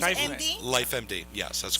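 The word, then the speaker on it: LifeMD: little bit about life med that's how you pronounce I finish life empty yes that's correct this is your company it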